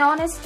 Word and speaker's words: honest: Here the letter H is silent.